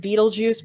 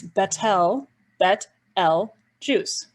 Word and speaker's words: Betelgeuse: here is called betelgeuse i know many people pronounce it beetlejuice but it's bettel bet l juice this one right here is called rigel notice